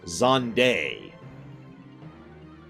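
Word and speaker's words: Zande: By the way, someone actually looked into this and figured out how Zand is supposed to be pronounced. For the record, I will continue calling him Zand because his name is Zand. However, his name is supposed to be pronounced Zonday.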